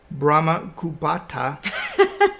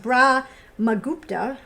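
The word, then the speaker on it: Brahmagupta: in India mathematicians like Brahma kubata who is often credited I think it's pronounced bra mupa well he's pretty uh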